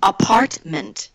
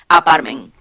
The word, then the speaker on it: apartment: mis ejemplos favoritos apartment la primera sílaba terminante la segunda sílaba terminante o sea las palabras la palabra es imperante que se pronunciará t porque si no pronuncia es la t apartment vas a decir a park men y un gringo ya no ya no lo entiende claro entonces ahí es